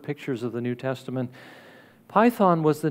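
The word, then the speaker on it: πύθων: spirit is uh a greek word which is pronounced python which is where we get our english word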